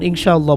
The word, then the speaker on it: ইনশাআল্লাহ: কায়দা অনুযায়ী বা তাজবিহিদ অনুযায়ী অনেকটা অনেস্বারের মত উচ্চারণ হবে ইনশাআল্লাহ আল্লাহু এখন আমরা তো চারে লিফটে নেয়া শব্দটা